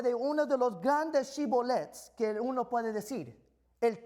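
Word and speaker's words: שיבולת: de Efraín, muy bien, di la palabra Shibolet. Pero ellos decían Sibolet, porque no podían pronunciar la palabra correctamente.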